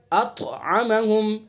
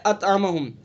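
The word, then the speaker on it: أطعمهم: وجہ سے قلقلہ ہوگا۔ پڑھیں کیسے؟ الذی اطعمہم، اطعمہم، خوب مشق کریں گے ہم، جب اچھی طرح سے مشق کریں گے تو صحیح تلفظ ہوگا، ورنہ کیا پڑھ دیں گے اطعمہم، اطعمہم، تو یہ غلط ہوگا۔ تو صحیح قلقلہ کا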